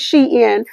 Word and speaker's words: Shein: That's she or Shein. Some people pronounce it Shein, but a Shein or a sheen curve.